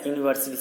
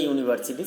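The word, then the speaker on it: university: Next, are you dash ইউনিভার্সিটি student. কী হবে? আর ইউ এ ইউনিভার্সিটি student, কারণ ইউ এর উচ্চারণটা, ইউটা ভায়াল হলেও উচ্চারণটা ইউ এর মতো হচ্ছে।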